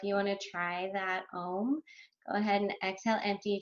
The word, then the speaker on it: Om: So there are 3 syllables to Om, Ah, O, It's supposed to represent